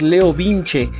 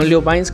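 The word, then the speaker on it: LeoVince: caja les comento que la pronunciación correcta es leo vinci y no leo bynes como lo estaba mencionando pero si se me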